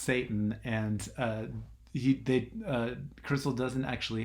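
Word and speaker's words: Seyton: name is is seitan like SE YT o n you know but it's pronounced Satan and he crystal doesn't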